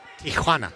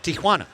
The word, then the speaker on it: Tijuana: pardon me Selvin PS PSA to all you folks out there it's Tana Tiana yeah Tiana Tiana is what many Americans say it is not technically correct that'd be an Americanized version of the great city of Tijuana Tijuana California birthplace of